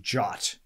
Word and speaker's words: JWT: up working so a json web token or jwt is actually pronounced jot i don't know why please somebody tell